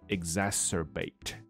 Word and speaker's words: exacerbate: 那另外一个字叫做 exacerbate. 那 exacerbate 是把一个东西弄得更糟，好，更暴力，更狂乱，更 bitter 或者更严重，好，变严重了。所以基本上就是跟 make worse 有点像。我们把发音来调整，再调一下，因为我发现我的那个 line 的那个群组，所以要是你不知道的话，我们现在有一个 line 的群组。那你可以反正免费加入，那是一个感谢 Andy 其中一个我们的朋友帮我们设置的。那你可以在里面，就是找一段话啦，然后把它录起来啊。然后我听了以后，当然我多半都是一天的结尾的时候，可能是两三点才听哈。那可是这个东西无常嘛，所以你要你奈我何？好，反正我会听，然后我可能会给你一些些。发音上的建议啊，或这些的，所以我发现到蛮多同学是对发音的这个调整是有兴趣的。那所以我们在影片中，我们也把这两个字念清楚一点点。你看到这里有清楚的 s，